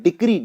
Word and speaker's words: decree: इसके बाद है डिक्री, DECREE, इसको बहुत लोग गलत प्रोनाउंस करके डिग्री बोलते हैं, तो डिग्री नहीं, ये वर्ड होता है डिक्री, DECREE।